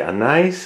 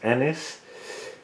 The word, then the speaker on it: anise: We say anise in the Netherlands, but I think you pronounce it in English as anise.